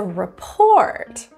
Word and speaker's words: report: In the word report, the stress was on the first syllable, re. In this case, it's a report. Report. So the stress was on the wrong syllable there.